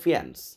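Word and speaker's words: faience: বিশেষ, এক কথায় ফিয়ান্স, উচ্চারণটা হলো ফিয়ান্স।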